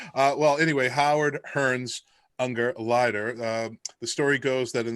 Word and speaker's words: Ungerleider: We had legendary sound designer Howard Ungerleider, not Ungerleader, which we recorded the episode in portions, and I had his name wrong, and I want to apologize to Howard.